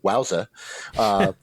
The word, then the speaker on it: WOWSA: Water Swimming Association, which, if you take the acronym, you could just pronounce it WOWSA, because they didn't have independent observers.